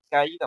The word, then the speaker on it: caída: aplicaría en la palabra caída, por ejemplo. Si nosotros separamos es caí, caída. Tiene tres sílabas, ¿no? Y en este caso la más fuerte, la sílaba más fuerte es la I, ¿no?